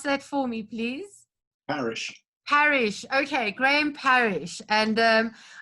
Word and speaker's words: Parish: Okay, will you pronounce that for me, please? Parish.